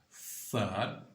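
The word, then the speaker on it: ص: Cette lettre se prononce donc Fad. Fad, c'est l'une des lettres qui possède un léger sifflement, n'est-ce pas?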